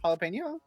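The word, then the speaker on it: jalapeño: With my pronounce with my pronunciation of jalapeno.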